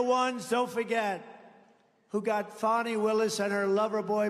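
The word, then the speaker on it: Fani: a ni I fny you have to pronounce it fonnie it's called Fanny you have to pronounce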